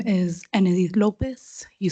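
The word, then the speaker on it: Ennedith: and spell your name yes my name is ened Lopez you spell it as e n n e d i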